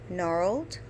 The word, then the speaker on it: gnarled: that consonant was in the word gnarled the G is silent so I highlighted the